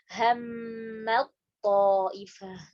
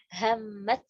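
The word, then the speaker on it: هَمَّت طَّائِفَةٌ: Hammat to idgham kamil dengan sempurna. Ya, jadi benar-benar dimasukkan ke huruf yang kedua. Hammat ta'ifah. Jadi bukan hammat ya.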